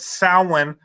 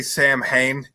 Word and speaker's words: Samhain: So, like, in America with pagans and stuff, if you say Sam Hain, you get fucking crucified. Yeah. I just saw all this stuff. It's Samhain.